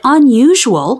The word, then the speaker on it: unusual: cute mule the cutest the letter u does not always need the help of silent e to make the long u sound sometimes a single u makes a sound all by itself the word unusual has two long u sounds in it can you find two